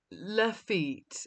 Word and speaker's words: Lafite: Pronunciations are all wrong. Lafite, it's Lafite, and it's Haut-Brion, and these things do matter.